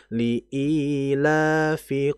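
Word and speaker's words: لإيلاف: Nah, lanya itu kalau kita lihat di Al-Qur'an memang enggak ada alifnya ya, tapi di atas lam itu ada fathah kemudian fathah berdiri. Iya. Nah, ini menandakan bahwa dia dibaca dua harakat. Jadi dibaca liilafi Quraisy seperti itu.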